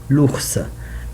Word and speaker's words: l'ours: If I talk about the, I say l'ours directly. I will cancel le, like we see here with le serpent is le, will be l'apostrophe because I have vowel, will be l'ours.